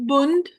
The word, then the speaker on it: Bund: Is it Bon? I wasn't sure how to pronounce it. Bund.